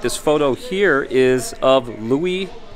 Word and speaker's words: Louis: Todd also shines some light this photo here is of Louis glare I was calling him Lewis earlier so I butchered that name too but Louis gler right